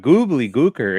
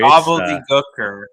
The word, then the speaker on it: Gobbledy Gooker: Gobbledy Gooker. Not Goobly Gooker. Gobbledy Gooker. Get it right.